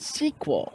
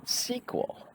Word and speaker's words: SQL: but no people that know this it's called sequel sequel you got to pronounce it so that's kind of a double